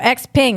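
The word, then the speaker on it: XPeng: Xping. I pronounced that right.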